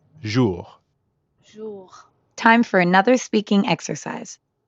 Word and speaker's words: jour: english word measure and the r at the end of ju doesn't really sound like an english r you should feel that r in your throat zhu yeah almost like you're gargling or clearing your throat jour time for another